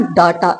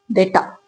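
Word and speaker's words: data: हम ज्यादातर इस वर्ड को पढ़ते हैं डाटा। इट्स नॉट डाटा। इट्स डाटा। Right? तो ध्यान से देखेंगे तो यहां पे स्ट्रेस किस पे होता है? इनिशियली जो शुरू में हम डे बोलते हैं।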